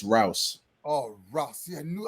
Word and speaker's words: Rouse: It's Rouse.